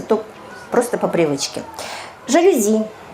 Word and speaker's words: жалюзи: то просто по привычке жалюзи слова французская поэтому сохраняется но норма французского языка соударения падают на последний слог завидно здесь 99